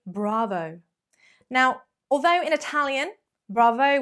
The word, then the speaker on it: bravo: stolen from the italians bravo bravo make sure you've got a bit of a posh accent with the r going on there bravo bravo obviously if